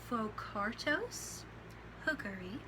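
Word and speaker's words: Phocarctos hookeri: lion its scientific name is right here it's pronounced focartos hookery its taxonomy is as follows kingdom animalia phylum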